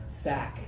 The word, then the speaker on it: sack: sound comes from here a sack rhymes with back like I hurt my back when I was carrying a heavy sack okay same sound it's a rhyme but this one I